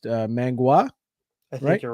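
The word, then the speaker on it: manhua: to left, whereas with I believe it's pronounced mangua.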